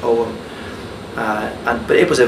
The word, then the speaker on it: ogham: people call it the ogham that's og ham but it's properly pronounced om and but it was